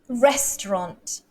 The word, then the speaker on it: restaurant: next word is restaurant restaurant so rest the first syllable restaurant this word this